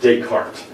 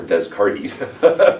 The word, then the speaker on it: Descartes: There are certain terms, and especially names in philosophy, that you have to pronounce correctly or you sound dumb. Okay? Like Descartes.